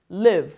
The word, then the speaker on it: live: Live Live live 이걸 바짝 올려서 leave이 하게 되면은 어디로 떠난다. L A V가 되는 거고요. 턱을 약간 아래로 내리고 힘을 빼서 발음하는 건 live. live.